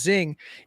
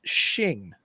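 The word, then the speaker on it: Xing: thought it was pronounced Zing is actually pronounced shin perfect thank you so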